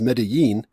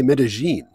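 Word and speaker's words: Medellín: But I think they say Medellin. Double L here has a J sound, and a double L in Mexico and wherever else.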